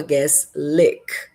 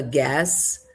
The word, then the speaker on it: gas: Se você diz we have a guess. O correto é: We have a gas leak.